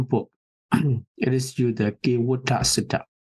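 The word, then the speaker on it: Kevaṭṭa: It is used the Kīvota Sutta. Other than T, they use the D. So Kīvota, it should be pronounced.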